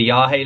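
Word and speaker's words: Yagé: all right um and then I read the yag Letters by William S burrow and Alan Ginsburg now technically it should be the yahi letters cuz that's how it's pronounced it's what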